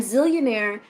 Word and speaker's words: Zeallionaire: And Zillionaire is ZEALLIONAIRE, not ZILL. Even though I spell it, sometimes people get into their head ZILL. No, ZEAL, as in zealous, having a fervor.